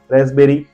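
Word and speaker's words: raspberry: आप ध्यान से देखिए रसबेरी यहां पर भी पीस साइलेंट है देन रिसीप्ट लोग इसे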